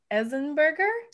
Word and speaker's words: Enzensberger: pronounce your name no well in in germany they just they just pronounce every letter in all of their the entire language so if you just pronounce every single letter of my name it's right great most people forget the s that's the thing um